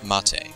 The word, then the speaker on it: MATE: So here we have the Mate desktop, or Mate, whichever way you want to pronounce it.